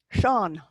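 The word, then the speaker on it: Seán: In the EA, Sean, you're reaching for the broad A, not the E in front of it.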